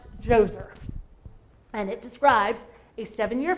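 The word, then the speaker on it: Djoser: sound familiar Pharaoh joser has a D in front of it but it's pronounced joser and it describes a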